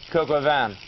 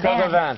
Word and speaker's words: Coq au vin: Coq au vin. That's how you pronounce it. Coq au vin.